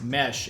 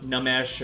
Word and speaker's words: Nmesh: Warehouse Union says, are you the one who says mesh in that slowed down voice on tracks like If I Tell You That I'm Happy? Yes. That's you. Yeah. Also, it is Mesh, right? It's not Nmesh or It is Mesh.